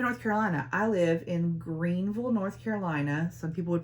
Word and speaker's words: Greenville: I live in Greenville, North Carolina. Some people would pronounce it Greenville.